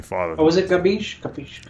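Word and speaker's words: capisce: I used the word capiche the other day, and one of my Italian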